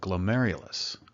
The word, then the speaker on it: glomerulus: capillaries known as a glomerulus I know it doesn't look like it's pronounced that way from its spelling but it is and each glomerulus is